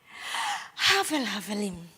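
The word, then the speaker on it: הבל הבלים: Kalau dibaca secara benar itu begini Anda lihat saya cara membaca ayat ini. Jadi filsafat Ibrani itu filsafat yang konkret yang kalau baca itu kadang-kadang harus diperagakan. Bacanya begini. Hafel hafalim amar kohelet.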